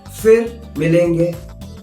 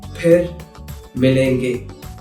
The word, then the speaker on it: phir milenge: There's no f sound in Hindi. There's no such sound. So, most of the times, people will use f instead of its right pronunciation, which is ph. So, if you hear someone saying fir milenge, that is incorrect. The correct pronunciation is phir milenge. I know it might be tough, but if you're learning it, learn it right way. Phir milenge instead of fir milenge.